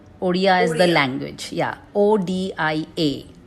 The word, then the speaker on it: Odia: So it's pronounced as Odia. Odia is the language.